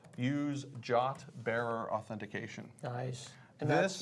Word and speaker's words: JWT: are you pronouncing that jot like j-o-t j o t is the pronunciation of JWT exactly yes that's the